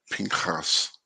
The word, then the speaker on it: Pinchas: Pinchas.